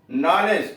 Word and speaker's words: knowledge: नॉलेज, KNOWLEDGE, इसमें ने के पहला वर्ड अक्षर ही साइलेंट है। साइलेंट तो के भी है, W भी है, D भी है और ए भी।